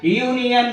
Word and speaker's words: union: And a union leader. A union leader. A union leader. Here U. Again the letter is vowel letter, but it gives the pronunciation of ya.